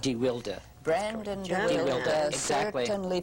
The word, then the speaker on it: deWilde: remember, by the way, he had a different pronunciation. It was DeWilde. DeWilde.